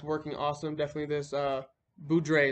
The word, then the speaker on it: Boudreaux's: awesome definitely this uh boudre is i think it's how it's pronounced not bordeaux's boudreaux's butt paste you want